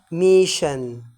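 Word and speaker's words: mission: مريض وتيجي بمعنى صبور عندي الدبل اس اس الدبل اس اللي هو انين اس اي او ان التركيبه دي على بعض يا جماعه بتنطق شن تنطق ايه زي كلمه ميشن كلمه ميشن ها وكلمه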